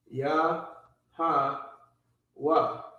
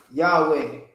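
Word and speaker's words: Yahawah: Ya, ha, wa. So the correct pronunciation is ya, ha, wa. Not Yahweh. There is no Yah, there's no E or A. It's not Yahweh.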